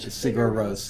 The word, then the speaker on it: Sigur Rós: How do you pronounce that? Sigur Rós, yeah.